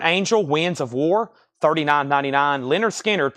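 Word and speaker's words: Lynyrd Skynyrd: Winds of War $39.99 Leonard skinnard pronounced lonard skinnard analog the only analog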